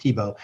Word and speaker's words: Tiebout: You start off by talking about TIBO. By the way, it's pronounced TIBO. That's a thing that's always confusing to everybody, but it is pronounced TIBO.